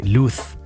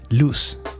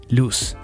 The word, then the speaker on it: luz: Well, maybe not if you're Spanish from Spain, because they would say luz, but South American Spanish, luz, luz. It's that same S sound.